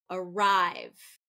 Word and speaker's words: arrive: minute okay number two arrive arrive arrive so this is second syllable stress okay arrive if it